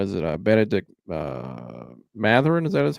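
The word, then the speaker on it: Mathurin: Uh, Benedict uh, Matherin. Is that how you say his name? Yeah, Ma Matherin.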